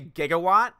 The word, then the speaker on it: gigawatt: gracious gee Stephanie be it's Giga so we would say gigawatt like gigabyte I've always wondered why he